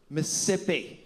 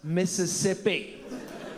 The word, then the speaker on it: Mississippi: Mcnally, it is not Miss-sippi. It's Miss-is-sippi. You're costing me an entire syllable of hydration with your pigeon English.